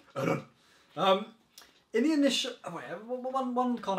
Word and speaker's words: Eren: can really pronounce his name. Yeah. I can't do it. Eren. Eren. It's German name. Eren.